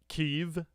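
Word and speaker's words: Kyiv: from 1980s Ukraine uh keev as it is now it is as it is now pronounced in the Western World um Gideon's mob are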